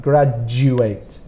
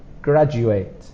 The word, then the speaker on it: graduate: This pronunciation, DU, is a J sound, graduate, graduate.